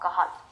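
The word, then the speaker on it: Cajal: द इंटरस्टिशल sales of कहल इंटरस्टिशल sales of कल याद रखना हम इसको जे प्रोनाउंस नहीं करते एक स्पैनिश नेम है साइंटिस्ट का इसलिए हम कल बोलते हैं अब मजे की बात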